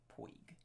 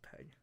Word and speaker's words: Pegg: Yep. I said it right. Poig. It's Pegg. Porg.